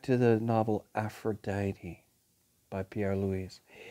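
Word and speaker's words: Louÿs: His last name is spelled L-O-U-Y-S, which means that he pretty much came from the Low Countries near Brussels. It could be pronounced Louis or Louis or Louis. Pierre Louys, in 1896, wrote a wonderful book called Aphrodite.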